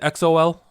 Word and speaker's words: EXO-L: Anita, how do I pronounce the EXO fan? Is it EXO-L?